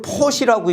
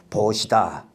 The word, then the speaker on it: 보시: 이걸 포시라고 읽으면 안 돼요. 베풀 시인데요. 이 포시라고 읽으면 안 되고 보시다.